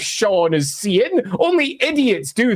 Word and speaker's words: Cian: We don't get a character called Sean and say, Cian. It's Cian. It looks like it's pronounced Cian. I'm going to call him Cian because he's called Cian. It says Cian in the book. No, his name's Sean.